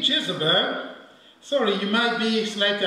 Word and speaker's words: Jezebel: uncomfortable with my pronunciations because i'm influenced by french in french we say isabelle so i'm a bit influenced by that pronunciation but i'll try to say jesus bear if that sounds strange